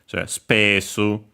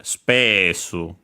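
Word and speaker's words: スペース: Reminder, of course, of the U of the first su, barely heard if at all, because it's between our voiced consonants. So spesso, even closer to English. Yeah, the accent is on the pe, space. So yeah, spesso. Low, high, low, low.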